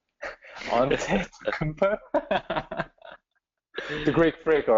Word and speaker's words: Antetokounmpo: Well, how do you pronounce that name? Antetokounmpo.